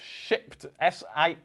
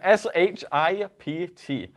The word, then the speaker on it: Shipt: And today we're going to be talking about Shipt. We have to be a little careful in our pronunciation of this particular Yes. piece of software. Yes, Shipt. Oh God. Let's try that again. Shipt.